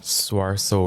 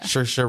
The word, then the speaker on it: Saoirse: Claire Littleton, and I don't know how to pronounce her name. Swarso Ronan. Oh, Cersei. Cersei. Shersha? Saoirse Ronan.